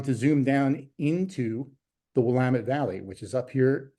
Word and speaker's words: Willamette: It's pronounced Willamette, and they will very quickly correct you if you're out there visiting and you call it the Willamette. They'll say it's Willamette, damn it.